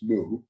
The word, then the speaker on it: Mu: it has no meaning so in the old Chinese it was woo in Japanese it's moo and it meant no